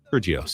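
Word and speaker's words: Kyrgios: Curios.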